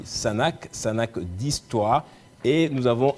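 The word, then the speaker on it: Sunhak: un institut l'Institut international je vais bien prononcer le nom parce que c'est un peu compliqué sanak sanak c'est écrit comme ceci s u n H a K ça se lit sanak sanac d'histoire et nous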